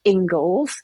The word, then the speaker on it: Inglis: conversation before we started my surname is Scottish and it's pronounced Engles but it is it is written as English i n g l